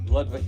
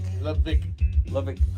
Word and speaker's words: Ludwig: Yeah, but I think the W is pronounced with a V. Yeah, Ludwig. Ludwig.